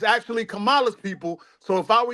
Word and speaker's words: Kamala: just so you know her name is actually pronounced Kamala see that's why he people don't understand it's Kamala right and she was actually born in Trinidad